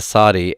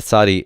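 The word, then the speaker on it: tsade: we have transliterated the sadi as this and we pronounce it as this in our standard pronunciation but but actually it's an S sound with constriction in the throat at the same time slow slow which is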